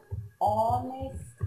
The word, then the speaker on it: honest: In this case, you must not pronounce the H. Okay, for example, an hour. An hour. An honest man.